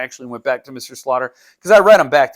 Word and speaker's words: Slaughter: hurt Mr Slaughter and it's not pronounced Mr slafter I thought it was Mr slafter but it's Mr Slaughter Slaughter is different than slafter anyway once that continuity